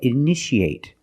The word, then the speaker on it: initiate: You see T-I-A. How do we pronounce it? That's right, sh, sh. So how do we pronounce this word? That's right, initiate.